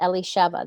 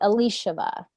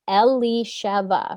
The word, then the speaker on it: Elisheva: don't say it right she she repeats it back you know she says elisheva they say elishava no elisheva elishava no elisheva ali shiva eli sheba no ellie sheva right like and so she'll